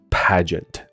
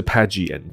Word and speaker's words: pageant: 那它的发音是 pageant，不是 pageant，那个 G-E-A-N-T 你可能会想说，啊，那不应该念成 G-E-N-T 吗？